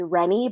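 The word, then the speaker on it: Wren: Our next child is going to be named Rennie, but spelled like W-R-E-N, like Ren in Ashoka.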